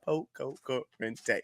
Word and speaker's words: Pococurante: But how many syllables is that? Pococurante. It's 5 syllables, ladies and gentlemen.